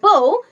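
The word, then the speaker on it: bow: যখন উচ্চারণ হবে বউ তখন হবে ধনুক, কিন্তু যখন উচ্চারণ হবে বাউ তখন হবে front part of a sheep, একটি জাহাজের সামনের অংশ বা নত হওয়া, টু বেন্ড, C-L-O-S-E.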